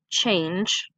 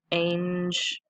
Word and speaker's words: change: here at the beginning that CH makes a new sound and then a ng e the G is soft with it being right there next to that silent so change okay and even though there's